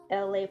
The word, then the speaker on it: Elay: Elay pronounced LA like the city.